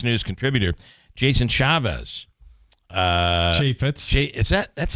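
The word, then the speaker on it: Chaffetz: Fox news on Sunday um you'll see him chaitz is how he pronounces it Jason chaitz damn it uh Senator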